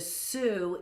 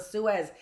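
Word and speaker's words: Sioux: And by the way, Travis, they're the Sue Indians, not the Suez. It's the Suez Canal. It's the Sue Indians. I was like, that doesn't sound right. I know how it's spelled S I O U X. It's Sue.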